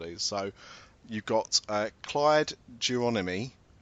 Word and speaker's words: Geronimi: So you've got Clyde Geronimi. I think that's how you pronounce it, not Geronimo.